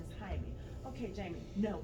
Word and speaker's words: Jaime: The other thing that resonated with me was the microaggressions, specifically when Jaime went to court and the receptionist kept mispronouncing his name as Jamie.